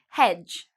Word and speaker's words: hedge: Hedge, again, you see D and G together. We don't pronounce the D.